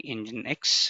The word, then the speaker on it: nginx: you what is nginx it's telling engine X the pronunciation is this one it's a HTTP reverse